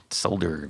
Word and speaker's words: solder: on get get that solder gun shaken sold I know I know sold I know I know I say s I thought slda was the wrong way to say it uh well that's a